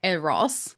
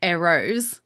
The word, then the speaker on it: Eros: Well, ironically, in your pronunciation, I've just realized the way that because I say Eros, you say Eros. Sounds like arrows, Cupid's bow Yeah.